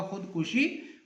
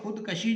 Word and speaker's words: خودکشی: بعد عزیز طلبہ خودکشی، خودکشی کاف پر وہ کہتا ہے پیش پڑیں گے، تو لفظ ہوگا خودکشی، خودکشی ٹھیک ہے، اور خودکشی جو ہے وہ غلط تصور ہوتا ہے، اس کا تلفظ ہم غلط جو ہے وہ پرناؤنس کرتے ہیں۔ اس کے بعد ہے